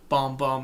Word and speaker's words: Bam Bam: sister nancy sister nancy bam bam or bomb bomb as she pronounced it bomb bomb okay bam bam though but yeah that's reggae